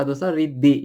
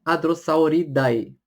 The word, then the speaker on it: Hadrosauridae: É legal que do latim, quando você tem o AE no final, você fala como se fosse um som de E. Então, o Hadrosauridae, você fala Hadrosauridae e não Hadrosauridae.